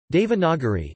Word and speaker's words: Devanagari: Devanagari, Devanagari, Devanagari IAST, Devanagari, a compound of Deva, Deva and Nagari, Nagari Hindi pronunciation, Dinari, also called Nagari, Nagari, Nagari is